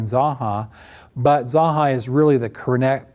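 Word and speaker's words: Zanja: And then after you get used to saying Sanki, guess what? It's a whole lot easier than saying Zaha. But Zahai is really the corre correct pronunciation of a name that goes back to 1819 in Redlands.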